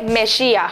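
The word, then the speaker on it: משיח: dice querida me dice entonces en hebreo se dice mejía mejía que después en castellano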